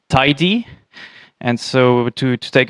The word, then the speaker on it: TyDe: type driven development uh called uh pronounced tidy and so to to